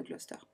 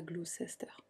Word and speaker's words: Gloucester: Ils emménagent alors au 25 Midland Road dans la ville de Gloucester. Oui, on dit Gloucester, on dit pas Gloucester. Pourquoi il y a une syllabe au milieu qu'on prononce pas?